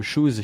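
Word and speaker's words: Choose: Alors, on va changer de sujet, mais on va parler de Shoes, C-H-O-O-S-E, mais qui se prononce comme Shoes, chaussures en anglais, et qui a été mis par Eram.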